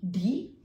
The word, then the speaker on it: die: आई और ई इसका उच्चारण होता है ई। जैसे DIE डी, SIEZ WIEV।